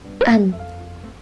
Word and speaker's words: 앉: 안. As you can hear, you just have to read the first consonant.